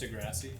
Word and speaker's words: deGrasse: Thumbs out, It's actually thumbs out. pronounced Degrassi.